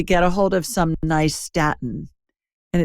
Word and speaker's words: nystatin: And then lastly, get a hold of some nystatin. And it's spelled Nystatin, nystatin. Think of New York and Staten Island. That's how it's an easy way to remember it.